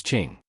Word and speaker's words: Qing: Also Q is pronounced like CH, so Qing in Yiqinghan is Qing.